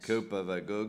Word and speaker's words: Kópavogur: the town of, now I won't get the pronunciation of this right, Kópavogur. Very nice. Kópavogur, good.